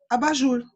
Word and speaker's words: abajur: Abajur, na verdade, é uma palavra de origem francesa, e escreve abat jour. E aí a gente foi, no uso da língua, acabou virando abajur, né, que é a pronúncia, mais ou menos a pronúncia do francês.